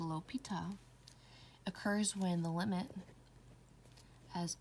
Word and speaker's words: L'Hôpital: l'hopital's rule pronounced a l'hôpital occurs when the limit